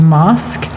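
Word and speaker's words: masque: Um there's a nice in between the the mama's play and the opera, there's a form called mask um which is spelled m a s q u e and mask is a kind of masked sung theater.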